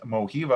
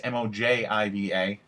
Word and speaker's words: Mojiva: check out in moby another one is mohiva i believe is how you pronounce it it's mojiva they have different mobile